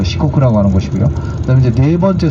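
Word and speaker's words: Shikoku: 한자로는 숫자 4에다가 나라국자 써서 4국 이렇게 하고서 일본 발음은 이제 시코크라고 얘기하는데이 시코크가 이제 그 세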